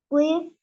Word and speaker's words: wife: Wife, esposa. En el caso de la palabra esposa, la pronunciación de la I es larga.